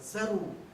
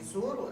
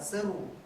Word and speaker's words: Зару: Зару. Не Зору, а Зару.